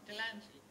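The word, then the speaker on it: Delahunty: Because in French it's written de, la, and then H-U-N-T-Y. Okay. But an H is never pronounced in French. Right. So they say Delanty.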